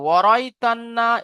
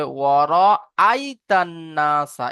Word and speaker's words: ورأيت الناس: তবে আপনার এখানে এটা পুরো পরিষ্কার করতে হবে, ওয়ারাইতান্না এইভাবে পড়লে ভুল হবে। কারণ এখানে হামজা আছে, হামজাটাকে আপনার উচ্চারণ করতে হবে ওয়ারাইতান্নাসা, এইভাবে পড়তে হবে।